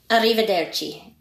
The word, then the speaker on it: arrivederci: The R's are really strong. Arrivederci. It's double R.